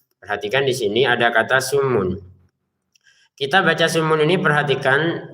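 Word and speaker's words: صم: Perhatikan di sini di mim ininya mim tasdidnya ini kita tahan dengungannya summun begitu.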